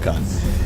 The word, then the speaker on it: Khan: I was saying the can. I really miss cannies in Germany right now, but... yeah, but this is Khan.